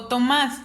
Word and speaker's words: Tomás: tónica en tomas o tomas si me estoy refiriendo al nombre de persona yo me doy cuenta que está en el más entonces es una palabra aguda porque está en la última sílaba la acentuó sí porque